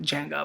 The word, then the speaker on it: Django: And I know the D is silent, like Django, my bad.